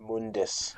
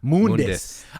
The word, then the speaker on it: Mundus: It's it's pronounced Mundus. Mundus.